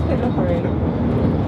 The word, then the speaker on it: Pitlochry: I really shouldn't be criticising people's pronunciation, should I? It is Pitlochry.